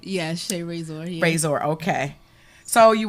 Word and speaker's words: Shae Raysor: Now, am I pronouncing that right? Yeah, Shae Raysor.